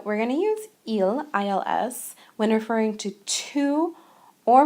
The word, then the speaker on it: ils: now please note that this is pronounced the same way as the singular he because we don't pronounce the s at the end so and il pronounce